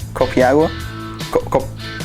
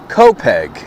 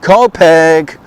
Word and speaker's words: Copiague: Today we find ourselves outside the confines of NYC and into the area of copiagu copiagu copiagua copier copi copy actually it's pronounced copg long island debated on pronouncing it wrong just